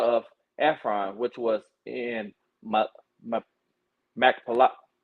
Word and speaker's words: Machpelah: And the field of Ephron, which was in Machpelah. Right. You said it right, Machpelah.